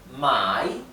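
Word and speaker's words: 买: se debe de pronunciar si ustedes cambian el tono pueden cambiar el sentido de la palabra por ejemplo fíjense esta palabra my significa comprar y my significa vender Para que vean qué importante que es pronunciar correctamente los tonos en mandarín bien significa comer por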